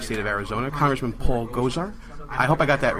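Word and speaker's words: Gosar: Just think about Ghostbusters.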